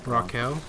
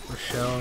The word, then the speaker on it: Rochelle: me oh dude oh rochelle you scared the out of me i think it's rock hill dude you're saying raquel rochelle raquel you know what no